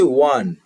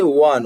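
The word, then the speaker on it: one: যেমন এখানে হচ্ছে ওয়ান, শব্দের শুরুতে আছে ভাওয়েল ও, কিন্তু উচ্চারণ করতে গেলে আসছে ওয়ান, ওয়া, ওয়া শব্দটা এখানে আসছে, সেই জন্য এখানে এ বসবে।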